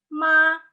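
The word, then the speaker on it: 妈: Ton 1, ma, nada pertama, nada 1 itu ma, dia datar kan? Ma, artinya ibu.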